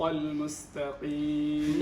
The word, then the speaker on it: المستقيم: القاف من حروف ماذا؟ التفخيم. تفخيم. نعم. ما المشكلة فيها؟ أنها مكسورة. نعم. إذا هي مكسورة إذن درجة التفخيم تكون أدنى الدرجات.